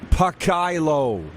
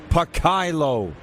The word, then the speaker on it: Pakailo: He said, for future considerations, it's pronounced Pakailo. Pakailo.